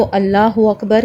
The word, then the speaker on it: अल्लाहु अकबर: थोड़ा सा तजवीद के हवाले से बात करूं तो अल्लाहू अकबर कैसे पढ़ना है?